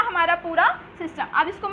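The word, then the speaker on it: tsetse: टी जो होता है वहाँ साइलेंट होता है, तो सीसी फ्लाई इसका वाहक होता है।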